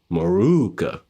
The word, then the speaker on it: Morooka: As you guys know, now at least, this is Kenjiro Morooka. Make sure you pronounce that double O.